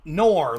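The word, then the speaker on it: Noerr: Is Noer? That's it. Nor, like the conjunction. N-O-R is how it sounds, but it's spelled N-O-E-R-R, but yeah, it's pronounced just like the word nor.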